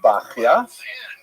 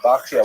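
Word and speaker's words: בחיי: The customary pronunciation is bakya. Uh but it's not a regular Hebrew spelling at all. Bakia would be something like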